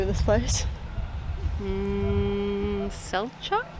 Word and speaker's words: Selçuk: Okay, so we have made it here to, how do you pronounce the name of this place? Selçuk? Selçuk, okay, that sounds good.